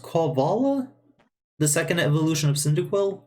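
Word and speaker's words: Quilava: I believe this Pokemon's pronounced Quavala? The second evolution of Cyndaquil? Quavala? It's fucking... Quill lava. Because it's a poor. I think it's supposed to be like a porcupine.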